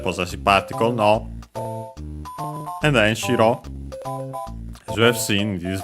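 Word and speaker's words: 城: And then shiro as you have seen this very series uh because of the previous one. Yeah. It means a castle. An accented not to be confused with shiro.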